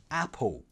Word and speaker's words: apple: So again, going back to this word, you could pronounce it apple.